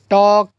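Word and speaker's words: talk: टॉक, काफ, काम, चॉक, वॉक, Fock, half, Simon. क्या है, सैमन, सैमन और पाम। तो यहाँ पर जो एल की आवाज़ जो है वो साइलेंट है।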